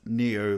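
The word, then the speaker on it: Nioh: It is actually pronounced Neo, like in the Matrix.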